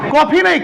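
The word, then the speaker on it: coffin: कॉफी नहीं, कॉफिन।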